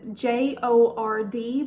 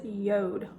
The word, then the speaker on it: Jord: pronounced differently then you would read it is J Ord but if you're pronouncing it correctly it is Yoda y ou de they have the finest craft